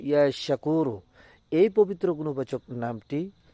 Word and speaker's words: ইয়াশাকুরু: সঠিকভাবে উচ্চারণ করবেন ইয়াশাকুরু।